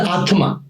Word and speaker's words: Atman: I'm the Atma. N is silent.